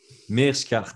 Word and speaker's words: Meerschaert: dernier combat contre Gerald Meerschaert. Je suis belge, je devrais savoir prononcer ça correctement. Meerschaert, voilà. Merci, Kurt.